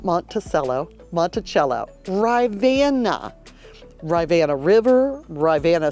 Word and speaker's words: Monticello: Monticello, Monticello, not Monticello, Monticello.